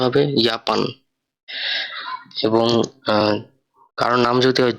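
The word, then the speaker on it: Japan: তো যে যেখানে আসে উচ্চারণটা হবে ইউ এর মতো, তাই এখানে জাপানকে বলা হইতেছে ইয়াপান।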